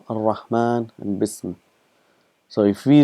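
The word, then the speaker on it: الرحمن: It's written as ar-Rahmanu, but we pronounce it as ar-Rahman.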